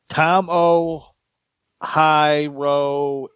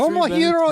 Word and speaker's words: Tomohiro: Josh Alexander defends against Tom O. High Row is high. Wow, you sound like Jim Ross right about now. Sleazy, you say it better then. 23 Tomohiro minutes.